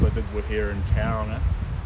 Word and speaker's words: Tauranga: a couple ways so a lot of people say Tauranga but that's not quite brick it's Tauranga so but either one's fine really um but Tauranga so